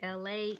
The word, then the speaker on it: Elay: what's up it's me la e l a y pronounced like la like the city I'm not from there